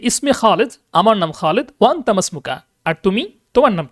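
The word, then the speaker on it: ما اسمكَ: হয় মা ইসমুক মাসমুকা যখন ইসমুনের শুরুতে কোন শব্দ আসে মিলিয়ে পড়তে হয় এবং অর্থ হবে মানে উচ্চারণটা হবে মাসমুকা মাসমুকা মানে কি তোমার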